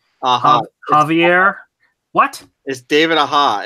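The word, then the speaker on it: Aja: do this right David aha aha Xavier what is David aha it's the J is silent like Libra Mayo no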